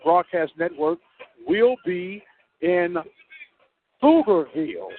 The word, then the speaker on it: Pflugerville: I want to remind you that the Open Mic Broadcast Network will be in Pflugerville, spelled with a P. That's right. Pflugerville, Texas, tomorrow night as the Lumen Eagles will play.